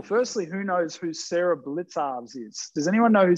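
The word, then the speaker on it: Blicavs: Blitzarves, I believe, or Blickarves. Blickarves is probably a better pronunciation of it. That's how it's pronounced.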